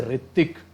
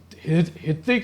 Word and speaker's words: ऋतिक: Words भी होते हैं, जैसे ऋतिक, जो ऋतिक बोलते हैं हम, तो वो एच से स्टार्ट होता है, हित्तिक नहीं बोलते उसको हम, एच साइलेंट रहता है।